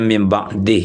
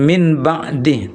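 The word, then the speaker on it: مِن بَعْدِهِ: ba maksudnya, maka bunyi nun sukun itu ditukar dengan bunyi mim sukun. Berarti bukan min ba, tetapi adalah mim ba. Misalnya ayatnya mim ba'dih ya, bukan min ba'dih tapi mim.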